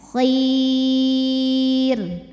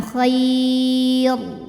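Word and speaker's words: خير: boleh EMP boleh 6 jadi ini bacanya kir kir Jadi bukan k tapi kir ke y ya Kir r-nya tipisin ya karena sebelumnya ya mati jadi ini bukan Khair jangan ditebelin nyantai lidahnya kir pokoknya kalau ada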